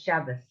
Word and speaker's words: Shabbos: they because it's not shabbat it's shabbos it's an s not a t so while we pronounce